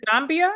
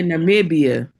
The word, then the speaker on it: Namibia: I think it's Is it Nambia? Is that how you pronounce it? Or Nambia? I I don't know. You can do a Google on it. Let's see what Look like it's a Namibia. Yeah, Namibia.